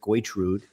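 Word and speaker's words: Gertrude: He drives an old beat-up jalopy named Goitrude, Gershwin, but that's how he pronounces it, Goitrude.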